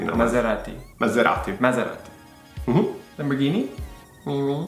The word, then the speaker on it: Lamborghini: Lamborghini. Mm-hmm. There's no twang in Italian, so it would be Lamborghini.